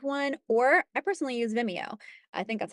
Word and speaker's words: Vimeo: if you have one or I personally use Vimeo I think that's how you pronounce it Vimeo and it's something that can house all your